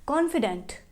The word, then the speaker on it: confidant: confidant is being pronounced as confident, and confident is also being pronounced as confident.